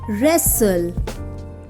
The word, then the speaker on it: wrestle: w silent w words number one wrestle two wriggle three right four wrong five wrinkle six answer in these words w is silent second column is w